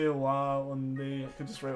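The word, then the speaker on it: は: You basically just need to know that, like, when you're using it as a particle, when it's not part of a word, it's pronounced wa.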